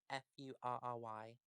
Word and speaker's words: furry: winners get dressing oh i should clarify it's fairy not fairy fairy f-u-r-r-y yes it's fairy not fairy furry yeah like an animal fairy okay i think